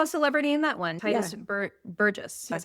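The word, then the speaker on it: Tituss Burgess: We also saw a celebrity in that one, Titus Burgess. That's how you pronounce that.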